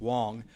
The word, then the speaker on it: Wang: number 6 and yang is good Wang is gonna start a sir thank you good evening my name is actually pronounced Wang that's all right Wang I'm the